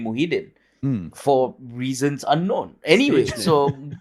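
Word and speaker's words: Muhyiddin: yeah yeah yeah uh his name is muhidin by the way muhidin yeah i said mujahid that's not real but once you're out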